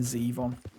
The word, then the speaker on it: Zevon: You did pronounce, it's Warren Zevon, as far as I'm aware. And you were pronouncing it Zevon. Which is fair enough, because it rhymes. It looks like Devon, but with a Z.